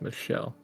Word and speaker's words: Michelle: And it's actually Michelle. It's pronounced Michelle.